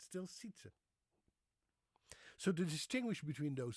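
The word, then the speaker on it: Sijtze: And we still have a remnant of that sound today in the Dutch boy's name Sietse, which is S-I-J thing, T-Z-E, Sietse.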